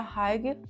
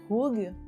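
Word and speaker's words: hygge: Eu sei que não se pronuncia Hig, mas é algo meio que Hug, não sei pronunciar, mas é uma palavra da Dinamarca.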